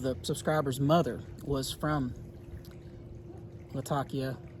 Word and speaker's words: Latakia: subscribers mother was from Latakia Latakia and said that sheep and the natives there and again I'm not from there so I'm going to mess this up but they pronounce it with a th they actually say lafakia